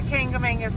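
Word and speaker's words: Kancamagus: Now, I know, because I have been told, that that is not how you pronounce that. But I have lived in New England my entire life, and I can tell you that everyone that lives up here in New England pronounces this area just like that.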